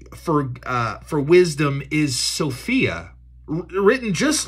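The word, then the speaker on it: σοφία: the word for for uh for wisdom is Sophia written just like it's spelled as the girl's name s-o-p-h-i-a Sophia and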